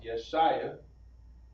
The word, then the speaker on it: Isaiah: Isaiah is pronounced Yeshaya.